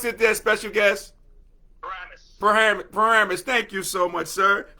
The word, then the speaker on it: Paramus: How do you pronounce it there, special guest? Paramus.